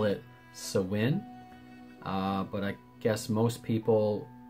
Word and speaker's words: Samhain: whole thing so the gaelic people call it sawin but i guess most people think of it as samhain or pronounce it samhain in some countries it's also